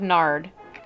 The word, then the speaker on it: nard: Then Mary took a 12-ounce jar of expensive perfume made from the essence of nard. Why are you giggling? At the name Nard. That's spelled N-A-R-D.